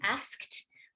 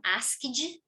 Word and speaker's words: asked: We want to hear that with a nice KT sound at the end, asked, but it might become asked, right? Where we have one and almost two extra syllables.